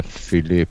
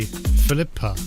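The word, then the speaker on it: Philippe: Because there's an e on the end that you don't pronounce because it's a vowel at the end of the uh of the word of the French word. Otherwise, you'd say Philippa. Filipe. But you wouldn't do that, would you?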